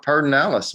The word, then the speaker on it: Pedernales: Who would take PED and call it Pedernales? I mean, that's crazy.